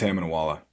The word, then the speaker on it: Itamunoala: It's Hamna Wala.